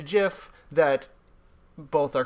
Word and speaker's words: GIF: there's if jeb by if you go by the rules of the english language it's jif or gif if there's no okay the i you make the i sound if there's an e at the end of the word or like after the consonant that follows the previous vowel that's just how it goes it's just the way